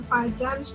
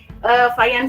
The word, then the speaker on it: Fajans: Jadi Fajans itu orang Polandia. Nah kalau di Polandia dibacanya itu bukan Fajans ya, tapi Fajans ya.